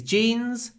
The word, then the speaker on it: jeans: Y and the jeans these jeans these jeans lots of Y before a voice n too tight clipped before an unvoiced T jeans are too tight